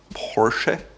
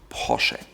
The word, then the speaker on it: Porsche: It goes all the way from Porsche or Porsche, but in fact, it's called Porsche. Porsche. Ferdinand Porsche. He was the founder. Porsche. Porsche. Not Porsche or Porsche, but Porsche.